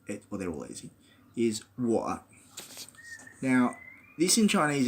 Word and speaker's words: 我: So I is 我. It's like saying the English word war, but without the war, without the R of American pronunciation, more like the way I would say it, and I'm an Australian, war, right?